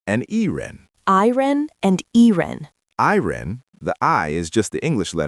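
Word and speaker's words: E人: When Chinese people say I-ren, they don't pronounce the I using the Chinese pinyin I. They pronounce it like the English letter, I. And the E in E-ren is pronounced like the English letter E.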